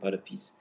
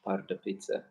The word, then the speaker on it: Pardubice: Some people pronounce it Pardubice, but locals pronounce it Pardubice.